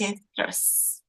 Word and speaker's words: orchestras: Orchestras. Mhm. The CH in this case is pronounced like K, orchestras.